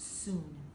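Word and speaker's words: cun: It's pronounced soon.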